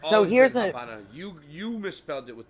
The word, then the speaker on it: Habana: no abely no no they just pronounce it that way because they pronounced the V like a b mhm I don't